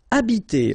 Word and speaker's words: habiter: Remember that in French, the H, H, like that here, is not pronounced at all, okay? So you don't pronounce it, so you get the first sound is the vowel A here.